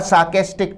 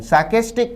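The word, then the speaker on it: sarcastic: अ सार्केस्टिक tone, सार्केस्टिक का अर्थ है व्यंग्यात्मक। विद्यार्थी इसके उच्चारण पर भी ध्यान दें, उच्चारण सार्केस्टिक है ना कि सरकास्टिक।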